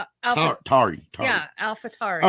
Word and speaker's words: Tauri: Tari or Tori? Tari.